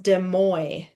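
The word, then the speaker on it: Des Moines: Yeah, that's a weird It's like a French word. I think it's pronounced demo.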